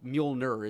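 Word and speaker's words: Mjölnir: letters page in which Walt Simson himself said that he pronounced it muer. Molir. Okay. But there's Muolner is certainly there there's some justification for pronouncing it that way too. Or what? Miumu I guess. Yeah. Muh if you're Cat Denning. Sure. Yeah. Yeah. Or Majoner if you're Jamie.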